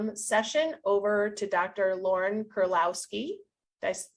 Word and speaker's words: Kuryloski: Lauren Kuryloski. Did I pronounce it correctly? Yep, Kuryloski, sounds good.